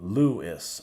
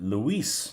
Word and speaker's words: Luis: sure to correct me when I met him first I pronounced it Lewis and he pronounces it Luis that's right the word